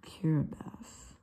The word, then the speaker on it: Kiribati: I don't know why it's spelled Kiribati, but it's actually Kiribati. I don't know if T is their language is like an S or, because I have no idea.